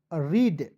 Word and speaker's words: read: पढ़ेंगे, तो आर से र, EA है, इसका उच्चारण बड़ी के रूप में, डी का ड, रीड।